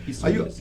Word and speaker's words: psoríase: Psoríase. Aí, como é que se pronuncia?